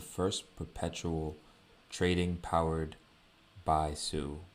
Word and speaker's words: Sui: Now this is the first perpetual trading powered by Su, right? And it's fast, secure, and low cost token trading powered by, again, the Su blockchain or the Sui blockchain, right? Depending on how you pronounce it.